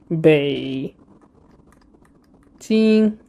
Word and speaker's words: Beijing: So this is Bei Jing. So this one is third tone, which is a bit, you need to reduce your pitch quite low and, do like a U-shaped sound, which is Beijing.